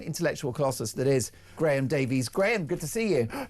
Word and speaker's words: Davies: It's actually pronounced Davis. It's very Welsh.